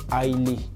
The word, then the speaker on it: ILA: la parodie aussi et mon nom de scène c'est Ailé, voilà, ça s'écrit I-L-A mais ça se lit Ailé.